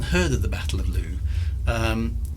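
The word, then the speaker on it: Lugh: was the the battle for lou or luff or lou i'm not quite sure where you pronounce it i'm going to go with lou actually l-u-g-h so that is probably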